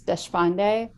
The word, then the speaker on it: Deshpande: fun yes um so and you pronounced my last name well it's desfonde okay so so i